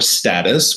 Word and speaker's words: status: When we talk about status in life, or status, we can pronounce it in both ways. That's fine.